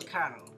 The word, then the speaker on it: colonel: goes up the level they become a kernel a colonel for some reason it's pronounced or terrible